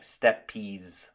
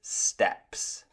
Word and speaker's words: steps: You might say something like steppies or something. But it's just the same as when you are walking. It is steps.